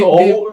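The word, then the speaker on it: Mansour: Kalau Sheikh Di- Mansur, di- bacanya harus, di- bacanya harus Mansur. Mansur.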